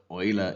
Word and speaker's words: Euler: Esse nome aqui, eu como um alemão, eu pronuncio ele como Euler. Euler é a pronúncia certa, né? Porque eu sou alemão e eu sei como pronunciar nomes alemães.